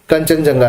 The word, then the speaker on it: Kangchenjunga: 2016 में Kangchenjunga, which is obviously हम उसका pronunciation करते हैं कंचनजंगा नेशनल पार्क, तो ओरिजिनली उसका स्पेलिंग होता है Kangchenjunga, that was declared in 2016 as World Natural Heritage Site.